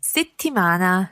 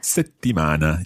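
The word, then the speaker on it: settimana: city mana prepare unabuana i always think the word city mana is a good word for practicing the bounce on that double consonant let's hear that again francesca city mana city mana it's almost like you close your mouth in the middle you you don't let any air coming out yes okay so one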